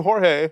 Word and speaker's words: Jorge: so I be like is it really George or is it George like Jorge we're fine with calling you jge call you Jorge yeah we're not that like we'll call you Jorge you don't have to